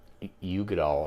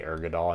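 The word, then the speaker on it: Uigeadail: My preference, I think I'm gonna say I think this is the Ugadal or whatever, however you pronounce it. Oh yeah, I would say Urgadal. I know there's no R in there.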